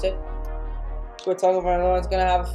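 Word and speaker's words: Tagovailoa: I can say his last name now Tua Tango vioa is how you pronounce it Tu tangoa is going to have a field day I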